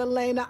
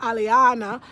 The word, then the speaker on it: Aliana: That's how they say it in Spanish. Not Elena, Aliana.